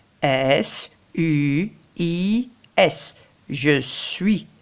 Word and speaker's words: suis: ce une ist je suis je n'entends pas le s je suis je suis